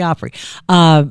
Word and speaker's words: Opry: at the Opry and that sounds like you're saying it wrong because we just said Oprah now you're saying Opry I don't sounds like you're saying 50 years at the Opry at the Oprah no at the Opry